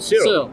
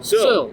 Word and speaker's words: Searle: How do you say that? Searle. Searle. Earl with an S.